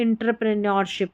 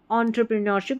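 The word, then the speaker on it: entrepreneurship: नहीं पता होगा तो यहां पर इंटर करके पढ़ देंगे एंटरप्रेन्योरशिप इंटर नहीं एंटरप्रेन्योरशिप इसका सही उच्चारण है याद रख लें इसको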